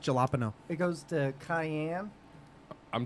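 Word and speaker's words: jalapeño: jalapeno jalap and then it goes to It's pronounced jalapeno it goes to Cayenne I'm dating a Spanish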